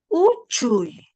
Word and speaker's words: Uchuy: Voy a ir pronunciando. Uchuy.